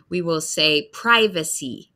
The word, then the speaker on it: privacy: So privacy for UK and privacy, we hear the long I, like iPhone, like I am Liz on privacy.